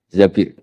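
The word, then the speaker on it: الزَّبِير: Di hadis ini bukan bacanya bukan Zubair, tapi Zabir.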